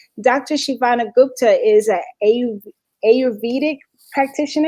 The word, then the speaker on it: Ayurvedic: Shivani Gupta is an Ayurvedic practitioner. Am I saying it right? Yeah, I say it Ayurvedic.